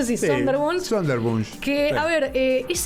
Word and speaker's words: Sonderwunsch: justamente es alemán, pero más o menos se pronuncia así, sí, Sonderwunsch.